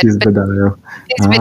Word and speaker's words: Piz Badial: So, gourmet, like phonetically, if I were to sound it out in English, it would be Piz Badial, which what you said. Piz Badial.